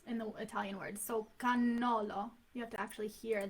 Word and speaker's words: cannolo: And Cannolo. cannolo? Cannolo. The Americans say cannoli. Mm-hmm. Cannoli. Yeah, well, cannoli is plural for cannolo. Cannolo is just one. And you have to double your N's.